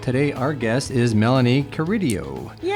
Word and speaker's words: Carideo: And today our guest is Melanie Curidio. Yay. Did I pronounce that right?